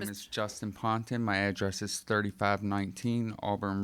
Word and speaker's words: Ponton: My name is Justin Ponton.